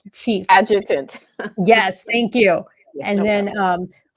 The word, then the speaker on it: adjutant: North Carolina, as the S1 adjunct, I cannot pronounce that right, adjunct chief. Adjutant.